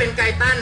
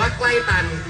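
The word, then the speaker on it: Guyton: ไป นะ ครับ เป็น ไก ตัน ฮะ เวลา อย่า อ่าน นะ ครับ อย่า อ่าน ว่า ใกล้ ตัน เพราะ ลักษณะ ใกล้ ตัน เนี่ย มี แต่ นาม แบบ เรา คน นี้ เท่า นั้น นะ ครับ ผม ไก ตัน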